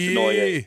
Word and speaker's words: Denoyer: But we think it's Denoyer. No, you are correct. It's Denoyer. Do you have to go Denoyer? Like to really go full French on it? We need to ask Bear how to properly pronounce it, right? Well, exactly. He'll be right down the middle with the English pronunciations.